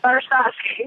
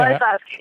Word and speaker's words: Barsowski: Barsowski. Okay. Barsowski.